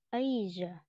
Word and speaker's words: Asia: À, thì đọc là thay vì đọc là giờ thì phải cong lên mà giờ thế thôi. Thử lại nào. Try. Asia.